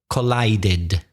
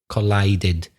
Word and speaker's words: collided: c o Double L I D e D collided collided the e of the IDI is pronounced why is it pronounced Craig well it's